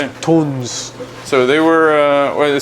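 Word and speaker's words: Tunze: I was saying Tunzi for a long time. This is what I would say even right now. No, So, they no? told me in Germany it's pronounced Okay. tons.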